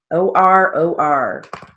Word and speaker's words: Oregon: states we've got oregon o-r-o-r and uh that's not a a long o it's just o o r o r pennsylvania